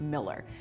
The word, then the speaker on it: Mueller: my list is the Mueller neighborhood or I guess depending who you are and what you believe it could also be pronounced Miller let me tell you